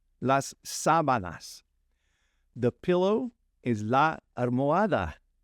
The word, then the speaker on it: sábanas: The sheets, you got to say that accent on the first A, las sábanas, las sábanas.